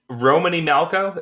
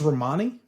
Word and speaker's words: Romany: I don't know how Romany Malco is that. I'm not sure if that's how you say his name. I think it's Romani. Romani.